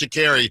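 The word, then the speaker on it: Sha'Carri: Sprint on Netflix so shakeri and it is pronounced shakeri because I watched the show Sprint and that's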